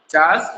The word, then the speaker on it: Charles: चलो ठीक है, कोई बात नहीं, स्पेलिंग आपकी मिस्टेक्स हैं, बट चार्ल्स बेबेज होता है, ठीक है।